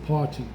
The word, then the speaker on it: Partee: Partee, which is pronounced like party when you go to a party, but his name ended in 2 E's, not a Y.